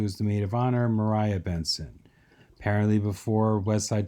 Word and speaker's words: Maria: before west side story that spelling of the name was pronounced mariah in the english-speaking world and then with the overwhelming success of west side story it has since become pronounced maria again the bottom right with